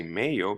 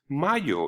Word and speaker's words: mayo: we will never say Mayo because we know the a is pronounced ah like avocado so it's Mayo like Cinco de Mayo